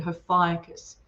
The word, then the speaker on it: Ophiuchus: It's hard to say when you read it. Ophiuchus is how it's said.